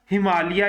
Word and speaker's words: हिमालय: range है इस range का नाम क्या है हिमालिया या हिमालय जिस तरह भी इसको आप प्रोनाउंस कर लो अच्छा जैसे करा करम रेंज